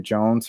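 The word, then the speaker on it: Joens: I believe you pronounce it Jones, her last name, but she spells it with the E before the N.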